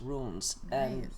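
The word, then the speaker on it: runes: Terrell there were also ruins rooms exactly it's pronounced ru and es rooms they have the symbols and everything on the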